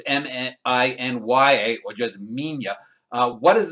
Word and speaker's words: Minilla: I think it just comes down to the pronunciation, but it is Minya.